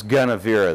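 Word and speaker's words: Gunnevera: go back to this gun avira that I mentioned before and it's not it looks like it looks like Guinevere but it's spelled g un n EV er a I don't know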